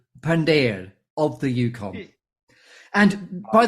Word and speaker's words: Pandher: correctly go deep um correct pronunciation of my name is gurdi Pander yes of course of the Yukon 2 but you are very close um and there are so many different pronunciations of my name too but if you want to hear in a very very uh pure way is good deep Pander of the Yukon and